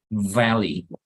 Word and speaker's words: valley: But the V is not pronounced like that, so it's like softer. Entonces vas a decir valley, all right?